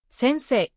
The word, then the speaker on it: せんせい: For example, sensei, keiken. Even though I is written, the sound is pronounced as a long I.